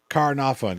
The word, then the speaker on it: Caernarfon: Carnarvon, get you close enough.